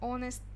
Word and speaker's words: honest: Dependent, зависимый, independent, honest, dishonest. H это silent letter, не читается. Acceptable, unacceptable, неприемлемый.